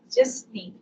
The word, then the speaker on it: Jisny: It's pronounced as Jasni.